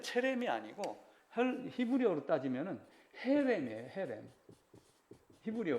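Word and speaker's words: חרם: 헤렘. 히브리어 발음으로는. 근데 이제 이거 쓸 때 영어로 CHE 이렇게 써가면서 체로 발음을 해갖고 체렘이 된 거예요.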